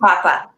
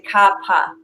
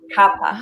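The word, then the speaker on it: kapha: that the second one papa mm-hmm you lost you pronounced but i want i want to let everyone know it's actually kappa kappa oh i did not know that pronounce the h and the other thing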